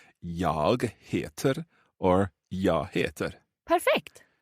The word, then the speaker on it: heter: Okay, so I can either say jag heter or jag heter. Perfect. So that heter word there, it kind of sounds like hate, which is probably not a very positive thing.